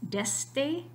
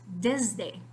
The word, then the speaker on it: desde: to the Z so yes you can say it with an S deste but that is not the correct pronunciation of this word in Spanish really what you need to be saying is desde that's a little bit